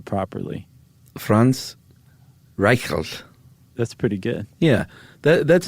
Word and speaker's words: Franz Reichelt: Franz Reichelt.